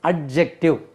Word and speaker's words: adjective: इसको हम उमूमन generally we pronounce it एडजेक्टिव। इसमें डी का उच्चारण नहीं करना चाहिए, डी इज साइलेंट।